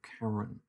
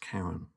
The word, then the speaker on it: Charon: Pluto and its moon Charon. And I think it is pronounced Charon. I always used to think Charon, but I think Bob corrected me once. Bob Berman corrected me once, said it's Charon.